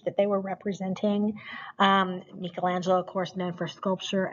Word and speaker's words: Michelangelo: be is it me is it me is michelangelo and that is how you pronounce it michelangelo uh with his sculpture of course the david